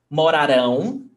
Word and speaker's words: morarão: Morarão, the stressed syllable is rão, and moraram, the stressed syllable is ra.